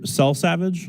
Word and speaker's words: Selsavage: Mr. Selsavage, is that how you say it? That's correct.